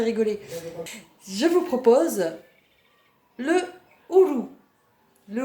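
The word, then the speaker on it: uru: Je vous propose le ourou. Le ourou, c'est quoi? Ça s'écrit U-R-U, c'est le fruit de l'arbre à pain.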